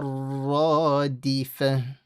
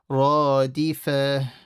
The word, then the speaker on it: الرَّادِفَةُ: تَتْبَعُهَا الرَّادِفَةُ. And then the round ta rule. Fa. One mistake that students make, they end up stretching the fa. Don't stretch the fa. Don't say radifa.